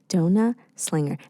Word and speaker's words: DonutxSlinger: DonutxSlinger. Am I doing it good? Oh, yeah. Perfect. Yes. I don't know why, but I've just been like butchering. No, a lot of people also pronounce the X.